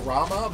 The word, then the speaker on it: Ramuh: Rama, I'm still called Raiham. Raiham awaits. I know it's pronounced Rama, but Raiham just sounds a lot cooler.